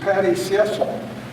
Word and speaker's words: Patty Cecil: And I'm told her name is pronounced Patty Cecil, but there's many versions in the audience.